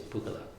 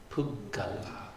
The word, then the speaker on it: puggala: So I think your tendency is to say pugala, pugala, pugala. And not pronounce the double G's, and to shorten the A a little bit. So, puggala, puggala, puggala.